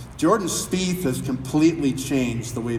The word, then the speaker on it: Spieth: Spieth speak okay I got to get the pronunciation right jordan Spieth has we change the way people putt in